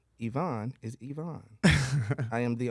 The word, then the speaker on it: Evon: the only I am the only Ivon that's EV v o n you got to spell it right and you got to pronounce it right you do it wrong we got a problem all right was telling